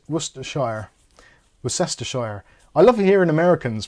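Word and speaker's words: Worcestershire: sauce Worcester sauce yeah if you if you pronounce Worcester worshire as you see it it's difficult because you break up worest Shire that's how most Americans break it up and when I heard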